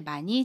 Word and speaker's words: 많이: 받침 히읗은 발음하지 않고요. 받침 니은은 다음에 오는 이응 자리로 가서 니로 발음합니다.